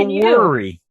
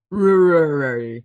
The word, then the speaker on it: Rory: My wife wanted to name our daughter Rory, except she can't pronounce it. Usually comes out closer to Worry. Rory.